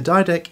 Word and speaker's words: Didache: Anyway, the Didak is a very old Christian text.